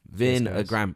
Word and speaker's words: Vinhagram: Vinagram. Is that how you say it? Yeah, Vinagram. vinegar. Vinegar. Yeah. Sounds like vinegar. Vinegar. I was just gonna say Yeah. that. Vinegar. Vinegar. And Instagram meets vinegar.